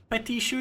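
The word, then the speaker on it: petit chou: Petishu is petite shoe.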